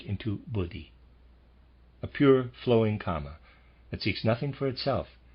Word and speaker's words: kama: changed into its opposite readers aside and i am pronouncing that correctly or at least not the word karma it's the word comma k-a-m-a just for clarification there